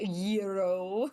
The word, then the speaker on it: gyro: It's technically pronounced euro, but it was it was decent.